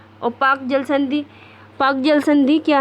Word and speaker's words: Palk: पाक को इंग्लिश में लिखते हैं PALK, पाक। तो यहाँ पे L साइलेंट होता है।